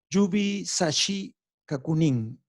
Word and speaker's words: Yubisashi Kakunin: Para eso, los japoneses tienen un sistema que se llama Yubi Sashi Kakunin. Yubisha, no puedo pronunciarlo, me van a disculpar.